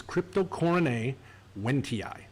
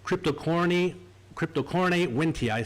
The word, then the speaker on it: Cryptocoryne wendtii: There are no silent vowels in Latin. So this is Cryptocoryne wendtii.